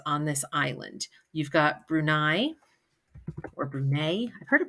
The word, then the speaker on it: Brunei: For Bruni, I always pronounce it Bruni, but I know that's not correct. But the reason why is because I think of teeny tiny Bruni, even though it's actually pronounced Brunei or whatever.